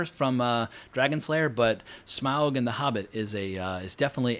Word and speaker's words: Smaug: I know it's Smaug, but anyway, I pronounce it Smaug, like smog in the air.